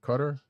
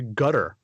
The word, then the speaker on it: Qatar: is it Qatar could cut her I've heard it both I've heard it pronounced both ways gotcha or I've also heard it pronounced actually another way gutter like the Q is a g gotcha so badinesia folks